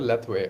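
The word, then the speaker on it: Lethwei: or something yeah uh you said leway leway right that's how you pronounce it leway okay so in leway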